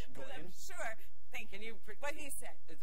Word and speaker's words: Gawain: Gawain? Sure. Thank you. Can you what he said. Is it, what is it? Gawain.